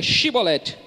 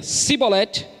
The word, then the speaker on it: Shibolete: Se respondesse que não, os homens de Gileade lhe diziam: Então diga Shibolete. Se ele dizia Sibolete, não podendo pronunciar corretamente a palavra, então o agarravam e matavam nos vales do Jordão.